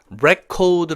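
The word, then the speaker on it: record: " 명사로 쓰일 때 는 ' 기록 ' 을 의미 합니다 . ' 리코드 ' 라고 발음 하면 ' 기록 하다 ' 라는 뜻 의 동사 가 됩니다 .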